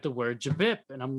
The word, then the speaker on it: J'Bip: JBip. Folks. It's JBip. Let's say it together. I've heard a lot of people say JBib. Like, there's no bib at all. No. Bip.